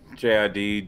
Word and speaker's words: JID: JID, Jid.